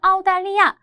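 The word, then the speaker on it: 澳大利亚: 단어 자체는 아우달리아 오스트레일리아를 이제 호주를 이렇게 발음을 해서 중국어로 표기를 한 거죠.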